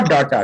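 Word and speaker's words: data: एंड the last, इसको डाटा लोग बोलते हैं, but this is नॉट डाटा, डेटा, डेटा।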